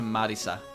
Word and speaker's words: Marisa: So whenever I read Marissa, I read Marissa. But if I read Kirisame, or even if I see it in the corner of my eye from while reading the sentence, I will instantly change my pronunciation to Marisa.